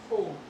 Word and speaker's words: home: Example होम, आपने देखा होगा राइट, HOME होम, लेकिन जब हम इसे बोलते हैं तो हम इसे होमी नहीं कहते, हम इसे सिर्फ होम कहते हैं।